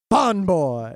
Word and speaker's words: FANboy: I mean, that was his name as far as the Yeah, entire if you just say FANboy, that's not him. That's some other word. FANboy. That's the correct way to say his name.